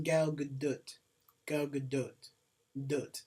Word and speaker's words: Gal Gadot: You know the actual way to pronounce her name is Gal Gadot. Gal Gadot. Like, it's like... You gotta pronounce the T.